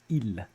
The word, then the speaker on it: il: our dirty little secrets we rarely if ever pronounce the L at the end of ill when talking about the weather when talking about the